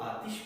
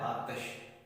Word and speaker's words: آتش: ہے خواجہ علی بخش۔ یہ جو لفظ آتش ہے، چونکہ ہمارے ہاں یہ غلط العام ہے، ہم اس کو آتش پڑھتے ہیں، اس کا جو درست تلفظ ہے وہ ہے آتش، تے کے اوپر زبر ہے۔ تو آپ کا نام